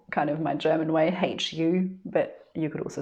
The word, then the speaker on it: HU: of my german way hu but you could also spell it w h o i guess um and so it's not vocalized as in the u is silent however we are pursuing